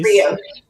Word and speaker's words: brioche: Brioche.